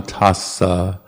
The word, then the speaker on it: tassa: So this one is Namo Tassa Bhagavato. So the double S, try to put a little space in there.